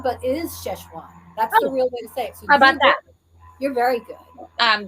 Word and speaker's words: Sichuan: to say it wrong no you say right cheshwan it's actually that's actually the proper way to say it's we say it's szechuan but it is sichuan that's you're very good i'm very good because